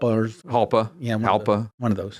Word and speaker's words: Jalpa: Jalpa or Halpa. Yeah, Halpa. One of those. Halpa, Jalpa. One of the small ones. Jalpa, but the J is silent. I know. Even though it's Italian, not Spanish, but I get it.